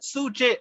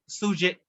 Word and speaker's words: sjuzhet: இது வந்து சூஜே அப்படின்னு ப்ரொனவுன்ஸ் பண்ணுவாங்க, SJUZHET, சூஜே.